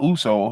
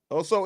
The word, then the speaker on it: Oso: No, not Uso. His name is Oso. I know, I'm being silly. Shit, might as well be Uso. Us. Oso Iguodaro.